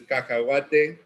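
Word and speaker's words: cacahuate: you know which is now you know we pronounce it as kakawat you know but if you were to take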